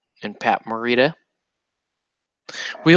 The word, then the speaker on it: Morita: Ralph Macchio and Pat Morita we like to say we like to in my house we like to mispronounce the name so we call it we say Pat Moriarty and Ralph's muchacho you know that movies